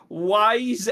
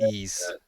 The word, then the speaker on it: Ys: I for some reason I read that as wise x i x munchkin well that's a lack of jrpg knowledge from you but yeah it's pronounced ease I would never know that I would probably